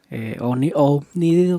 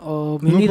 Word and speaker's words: homínido: Y cuando fue, dice que vio a un ser omnídeo, ¿cómo se dice? Homínido.